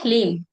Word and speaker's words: ह्लीम: ये है ह्लीम, ह्लीम, HLEEM। इसका प्रोनाउंसिएशन ये है HLEEM, ह्लीम। ह्लीम, एक मंत्र हमने पहले पढ़ा था ह्रीम, ये ह्लीम है।